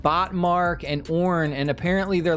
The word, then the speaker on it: Orn: Next up, we have Orn, I think is how you say his name, O-R-N.